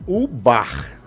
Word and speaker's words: Ô Bar: Eu errei aqui na colocação, na mudança de letra, porque você pronunciou, pensei que você estava pronunciando com um acento. Sim. Mas é o bar. O nome é Oba. Oba. É a ideia de ser Oba, né?